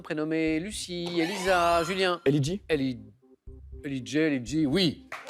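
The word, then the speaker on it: L.E.J: Elidji, oui. Parce qu'on le prononce à l'anglo-saxonne. Mais je n'allais pas vous refuser, bien sûr, la bonne réponse. Elle, donc les initiales L, E, J et Ellie J.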